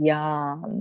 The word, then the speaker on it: yam: use of the beautiful heart chakra mantra which is yum and actually spoken out as yam there's like a silent h behind the a and so i'll just